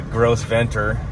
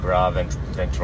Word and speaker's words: Gros Ventre: I called it the Gros Ventre, which is not, it's French. It's like Gros Ventre.